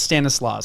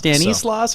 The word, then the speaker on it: Stanislaus: joe informed me that i already pronounced something wrong it's uh stanislaus the irony is that could be wrong too my correction is probably wrong but i think it's stanislaus stanislaus danny slaws or stanislaus so we have a phone